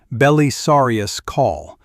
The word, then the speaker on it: Belisarius Cawl: Bellisarius Call is an Arch Magos dominus of the Adeptus Mechanicus pronounced if you want it right Bellisarius Call and Arch Magos as Arch Magos.